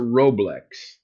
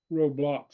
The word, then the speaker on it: Roblox: Is it Roblox or Roblex? How do you pronounce that? Roblox. Roblox. Okay.